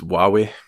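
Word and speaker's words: Huawei: you're talking about its yeah Tony so it's pronounced while we wait like yes did some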